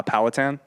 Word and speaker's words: Powhatan: from here on out how do you actually spell it uh powhatan um palette because it's just the group it's